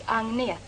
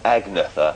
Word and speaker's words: Agnetha: How do you pronounce Agnetha? Is that right? My name is Agnetha. Agnetha. Yeah. There's me saying Agnetha and things like that. You're probably squirming every time I say Agnetha, but I can't learn to say it properly in time, so we'll have to make do with that one.